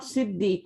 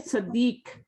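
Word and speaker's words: صديق: As-Saddiq, not Siddiq. Okay. Sadiq. Sadiq is friend.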